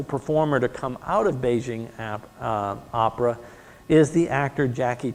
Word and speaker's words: Beijing: For the most part today, it is called Beijing opera because Beijing is much closer to the Chinese pronunciation of their capital. Peking is what we called it. Beijing is closer to what they called it.